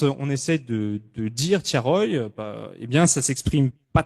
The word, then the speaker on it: Thiaroye: moment de prononcer tiaroy elle le prononce mal elle dit pas tiaroy elle dit tiarua donc ce qui pour